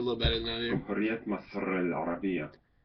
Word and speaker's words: جمهورية مصر العربية: It's let's see, in Arabic it's pronounced جمهورية مصر العربية.